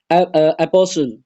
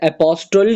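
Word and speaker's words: apostle: उसके बाद है जी एपोसल, यहाँ पे जो टी है वो आपका क्या है, साइलेंट, एपोस्टल नहीं है लव्स, ये एपोसल है, एपोसल लव्स है, यहाँ पे जो टी है वो साइलेंट है।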